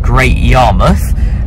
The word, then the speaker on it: Great Yarmouth: at the coast at a place called Great Yarmouth, which is spelt Yare Mouth because it's the mouth of the river Yare and kind of where it joins the sea.